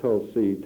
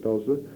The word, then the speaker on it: Tulsa: she had heard about tulsi town and as much as i had learned in school and the pronunciation of tulsa she still called it tulsi and not tall sir the why don't you